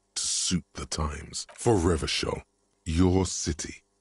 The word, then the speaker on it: Revachol: For Revachol, your city. If it doesn't rhyme, you're not pronouncing it right.